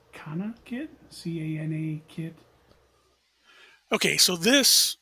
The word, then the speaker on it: CanaKit: Hello, this is a breadboard connected to the, I think it's pronounced Canakit, C-A-N-A kit.